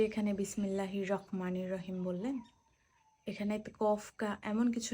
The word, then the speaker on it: বিসমিল্লাহির রাহমানির রাহিম: বিসমিল্লাহির রাহমানির রাহিম। আপনি যে এখানে বিসমিল্লাহির রহমানির রাহিম বললেন এখানে কফ এমন কিছু নাই যে ক উচ্চারণ হবে।